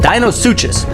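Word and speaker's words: Deinosuchus: bite marks from the dinos sucus on them okay so the right pronunciation for this is a dino suis but no body of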